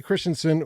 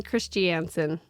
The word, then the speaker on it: Christiansen: She's a Bonnie Christiansen. Christiansen, that's Yes. right. Not Christiansen, Christiansen. I remember spelling that correctly.